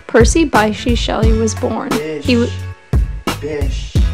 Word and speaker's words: Bysshe: Bish. Like rhymes with dish? Yes. Yes. Bish is his name.